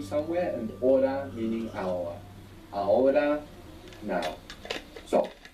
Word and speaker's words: ahora: The word for now in Spanish is ahora. Ahora. This is spelled A-H O-R-A. O-R-A. A-H-O-R-A. Ahora. Ahora. Good. Is the H silent in every? Yeah, unless it's C-H, in which case it's like English, ch.